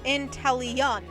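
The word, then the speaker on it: Inteleon: as a side note game freak pronounced intellion in taliyan like i don't know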